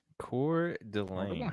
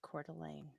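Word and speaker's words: Coeur d'Alene: Cordelane. And that is how you pronounce it everybody. Cordelane.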